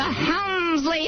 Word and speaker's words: Helmsley: The Helmsley Hotel.